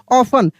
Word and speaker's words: often: वही वाला वर्ड दोबारा से रिपीट हो गया है, ऑफन।